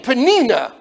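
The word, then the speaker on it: Peninnah: life miserable for Hannah even her name pnina it sounds slimy Nina Nina rhymes with Nina and can you imagine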